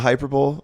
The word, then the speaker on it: hyperbole: I think it's from his, the epitome of a hyperbole, like that special maybe. And we all loved it. Is that how you say it? A hyperbole is somebody his joke is in the special.